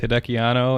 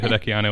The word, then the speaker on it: Hideki Anno: co-directed by both Hideki Anno and Shinji Higuchi.